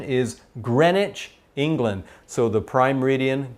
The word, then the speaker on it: Greenwich: little town or city in england it's it's pronounced greenwich i know it says green but this pronunciation is greenwich england so the prime meridian goes through that